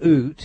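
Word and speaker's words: Ute: You've described in Oot, is that how you say it?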